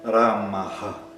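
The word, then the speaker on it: रामः: dentro da frase aham ramaha, é que tem essa mudança no final. E observe então qual é a mudança no som. Eu vou apenas falar a última palavra, Ramaha.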